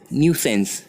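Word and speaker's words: nuisance: देखिए यहाँ पर जो न्यूसेंस हमने लिखा है, इसे प्रोनाउंसिएशन लिखा हुआ है, किस तरह प्रोनाउंस करना है, इसे हम कहेंगे न्यूसेंस।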